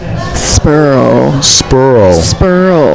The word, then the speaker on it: Sperl: How do you say your last name? Sperl. It's German.